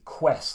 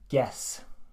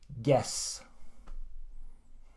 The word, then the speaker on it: guess: the list is guess so what Finns tried to do with this is they tried to say Quest's like they make the ji a cube and I don't know why that is but I think maybe because Q and you go together very often but the word is guess so again guess ok third on my